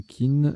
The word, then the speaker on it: Qin: Pour Qin, c'est pareil, chin ou kin, sitar chinoise à 7 cordes ou adjectif d'une dynastie chinoise du 3e siècle avant Jésus-Christ.